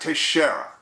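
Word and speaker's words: Teixeira: of the uh suspect his name is Jack Tashara and that's spelled tangle Echo India x-ray Echo India Romeo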